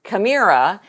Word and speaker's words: Kamira: I met someone named kamira and she said yeah kind of rhymes with era and this is very